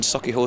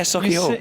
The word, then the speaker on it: Sauchiehall: Yeah, my family, my dad used to run on Sauchiehall Street. There used to be an old Bernie Inn. You actually said it right. Oh yeah, Sauchiehall.